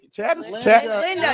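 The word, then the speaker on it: Lynda: Linda, not Glinda.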